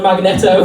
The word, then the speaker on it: Magneto: No, that's number 99 and a Magneto. I never know whether to pronounce it Magneto or Magneto. It's Magneto.